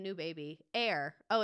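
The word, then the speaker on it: Aire: new name new baby air oh it's just pronounced like air that's annoying but I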